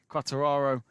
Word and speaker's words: Quartararo: Quartararo in second, Zarco first.